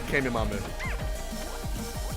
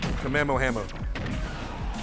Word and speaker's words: Kamehameha: It's not Kamiyamame. Okay, then what is it? Kamehameha.